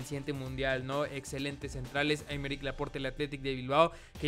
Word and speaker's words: Aymeric Laporte: Aymeric Laporte, o Aymeric Laporte, supongo que así se debe decirme, ahí me dijeron que no se pronuncia la última letra.